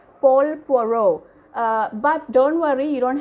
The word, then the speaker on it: Paul Poiret: His name is, his pronunciation of the name is, I don't know, I'm just imitating the French pronunciation, Paul Poiret. Paul Poiret.